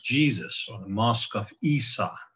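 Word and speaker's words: عيسى: or the mosque of isa that's the word jesus is pronounced in arabic and many things like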